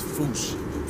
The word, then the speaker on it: fossa: But if you followed the Attenborough rule, Sir David would have had you saying Fossa. What if I told you both are technically wrong? Because the name comes from the original Malagasy word, and apparently the correct way to say it is foosh, foosh, foosh, like foosh with a performance anxiety at the end.